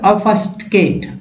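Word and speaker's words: obfuscate: अफस्टकेट, अफस्टकेट। लेकिन जनरली अगर देखा जाए तो क्या उच्चारण करेंगे लोग? ऑव, ऑव बोलेंगे ही, ऑव बोलेंगे, लेकिन ऑव नहीं बोलना है, ओ नहीं बोलना है, अ बोलना है।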